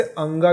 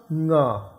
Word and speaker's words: ङ: क, ख, ग, घ, ङ, इसे अंगा भी कहते हैं। यदि आप अंगा बोलने में सुविधा महसूस करते हैं तो अंगा कहिए, नहीं तो ङ।